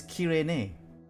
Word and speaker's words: Cyrene: The Japanese pronunciation of Cyrene is Kirene. What does that mean? Oh no, because basically they're not doing Cyrene. They say the C is hard C, so Kirene is how they pronounce her name.